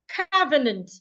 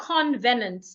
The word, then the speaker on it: covenant: Covenant. It's not convenant. There is no N after the O.